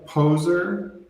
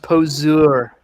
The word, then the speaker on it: poseur: Karen, what a poser. It's pronounced poseur.